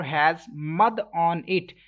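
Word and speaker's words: ح: So next letter is ha, and ha doesn't have mud on it, so I will stretch equal to 1 second. And ha, this ha is pronounced from middle part of your throat, and make sure like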